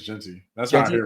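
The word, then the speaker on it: Jeanty: Travis Hunter and Ashton gy Genty gy I don't know I think it's Genty that's why I he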